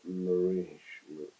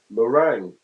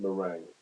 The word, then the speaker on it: meringue: Uh, pronunciation. Here we go. Mering. Oh, a lemon mering. Oh, right, right, right, right, right. Gotcha. A lemon meringue.